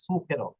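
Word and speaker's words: zucchero: জুকেরো বলে ঠিক আছে আমরাও ভুল করি আমরা জুকেরো বলি কিন্তু শব্দটা হবে সুকেরো ওকে এটা বলতে বলতে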